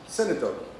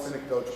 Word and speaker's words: synecdoche: So the big word is pronounced synecdoche. I prefer to call it synecdoche, but that's just because I'm from New England and I can't pronounce things.